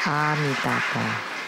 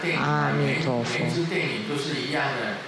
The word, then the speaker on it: Amitabha: But no, we are white and bright, so we should say Amitabha, Amitabha, Amitofo.